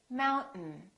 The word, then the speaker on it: mountain: We don't say mountain, we say mountain, mountain. This syllable is stressed, therefore the second syllable is reduced and the vowel disappears.